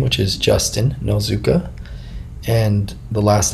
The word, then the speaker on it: Nozuka: And you got to type in my name, which is Justin Nozuka, and the last name is spelled N like Nancy, O-Z-U-K like karate, and A.